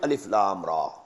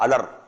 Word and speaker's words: Alif Lam Ra: Bismillahir Rahmanir Rahim, Alif Lam Ra. These are huruf muqatta'at. These are pronounced separately and so they are the broken into pieces.